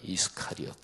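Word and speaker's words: Iscariot: 여기에 가룟, 영어 발음을 이스카리옷 이렇게 발음하는데 이 지방이 어딘지 정확하게 검증은 안 됩니다.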